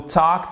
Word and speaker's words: talk: On ne prononce pas le L. C'est pas talk, c'est talk.